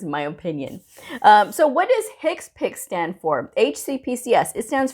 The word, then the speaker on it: HCPCS: least that is my opinion so what does hicks pick stand for hcpcs it stands for health care